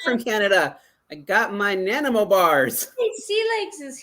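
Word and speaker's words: Nanaimo: I don't might be want an pronouncing it Nanimo wrong. bar. So if those Canadians in the house, but that's how they pronounced it when I was there in Victoria.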